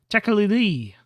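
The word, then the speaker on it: Tekeli-li: No, you're saying it wrong. He curves his serpentine neck and whistles. Tekali-li, like that.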